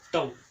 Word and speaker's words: tau: um time instead of time here it is tau a tau t a u okay this is